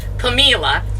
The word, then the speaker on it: Pamela: see her name name it looks like Pamela because that's how it's spelled but she pronounced it pamila she was schoolcraft's first